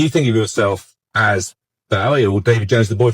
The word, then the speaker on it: Bowie: Uh, I always thought it was Bowie cuz I thought, well, it's a Scottish name. Must be Bowie.